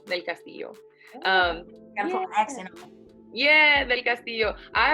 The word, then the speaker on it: Del Castillo: butcher your last name tell me how to pronounce it thank you for asking it's del castillo del castillo um yeah del castillo i always think that